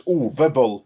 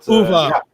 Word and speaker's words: Uwe Boll: We're gonna say his name right though, which is Uwe Boll. But Uwe. yeah. Uwe.